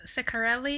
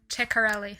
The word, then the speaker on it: Ceccarelli: Well, you can pronounce it Ceccarelli Ceccarelli? or Ceccarelli.